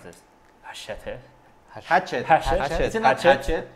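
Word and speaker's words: Hachette: pronounce this hash Hatchet hatet I think it's hatet you you spell hatet like like machete yeah so so basically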